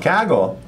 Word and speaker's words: Kaggle: Kaggle. We believe we're pronouncing it correctly. Some people say Kaggle, but I think that's a different thing.